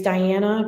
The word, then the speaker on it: Diana: you know, my name is Diana, but uh my family is Italian and so they pronounce it diana.